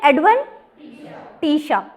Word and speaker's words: adventitia: जो outer side पे है उसका नाम आपके ऑथर ने क्या लिख दिया है, एडवेंटिशा, ठीक है, एडवेंटिशा, SHUH प्रोनाउंसिएशन में, ठीक है।